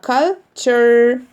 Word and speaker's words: culture: culture Bedouin Bedouin. culture فاكرين لما قلنا TURE chur TURE chur TURE chur أول ما الاقي TURE في أي كلمة بنطقها كلمة chur chur يبقى culture.